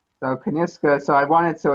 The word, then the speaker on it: Kyniska: and it back is it you say you pronounce it how did you come up with that name so kaniska so i wanted so it's a women's specialty